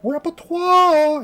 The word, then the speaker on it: Repertoire: Repertoire. You have to say it like that.